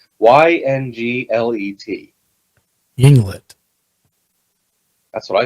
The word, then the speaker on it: Yinglet: Yinglet.